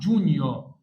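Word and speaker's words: Giugno: لو حد كان مركز دي اسمها نيو نيو الجي مش ه تتنطق يبقى اسمها جونيو جونيو جونيو يعني يونيو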